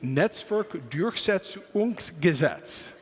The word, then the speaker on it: Netzwerkdurchsetzungsgesetz: coming and speaking after Yossi, but it was pronouncing the name of the law. And I'm going to try. It's Netzwerkdurchsetzungsgesetz.